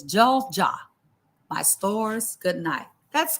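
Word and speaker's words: 잘 자: And he says, Jol Ja, my stores, good night.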